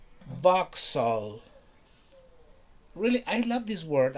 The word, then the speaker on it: Vauxhall: pronounce it box hull box hull box hall no box no never it's vauxhall really i love this